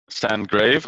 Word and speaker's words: Sandgrav: Sandgrave. I don't know. It's a Danish last name, so I mean I don't really think that it's meant for international pronunciation. No. So it's Sand and Grave. So yeah, it's Right.